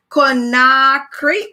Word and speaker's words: Conakry: And this is Conakry.